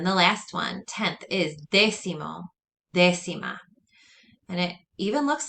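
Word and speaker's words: décimo: might be related and also notice that there's an accent on this e that's where you put your emphasis and that means tenth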